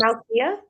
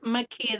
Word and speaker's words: Makia: Is it Malia? It's Makia. The L is silent.